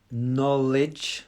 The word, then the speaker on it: knowledge: It's a silent K. Knowledge. So it's like it's an N sound.